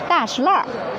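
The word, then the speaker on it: 大栅栏: According to the Chinese pronunciation, and the three Chinese characters on it is 大栅栏. But interesting thing, I am a local people, and I am the native Beijingers. I call it 大石栏.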